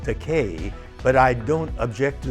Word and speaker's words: Takei: they keep calling me takai and i correct them by saying it's actually pronounced decay but i don't object to the mispronunciation takai